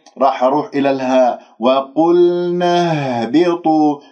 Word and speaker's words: اهبطوا: وقلنا اهبطوا، لاحظتم اهبطوا الهاء باهتزاز الأوتار الصوتية من منطقة أقصى الحلق،